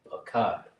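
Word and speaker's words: פחד: In the Lashawan Qadash, this mysterious word afraid is pronounced Pakad. Right?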